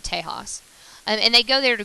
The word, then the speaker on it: Tejas: The Mexicans pronounce it Tejas.